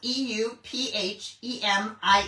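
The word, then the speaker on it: Euphemie: And then her mom is, and I don't know if I'm pronouncing this correctly, it's spelled E U P H E M I E. It's Eu Euphemi. Euphemi Benoa.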